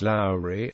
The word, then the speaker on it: Lowrey: Low's divisional Commander during the Franklin National campaign pronounced Lowry the bravest man in the Confederate Army Post